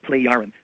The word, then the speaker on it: Plejaren: Well, what we're told are that they are people who we now are told are called Plejaren, spelled P-L-E-J-A-R-E-N.